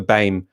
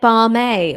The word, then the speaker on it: BAME: Well, I've been pronouncing it BAME all this time, like Lammy.